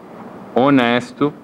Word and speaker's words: honest: Mais conhecida, hora, hour, herdeiro, que em inglês chama heir, honesto, honest, e honra, honor. Então aqui temos exemplos de 4 Hs que não são pronunciados, são mudos.